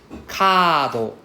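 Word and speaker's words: カード: So for example, kado. Kado. Right, so it's a long A sound, so this is why we need a double A.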